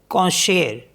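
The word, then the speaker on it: concert: little next word है सी ओ एन सी ई आर टी इसमें भी टी साइलेंट हो गया इसको पढ़ते हैं कशेर कशेर कंसर्ट इसमें भी एक्सेप्शन है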